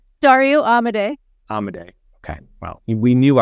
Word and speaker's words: Amodei: But Dario Amodei's Amodei. Dario Amodei. Amodei. Okay. Well, we knew I wasn't going to get the pronunciation.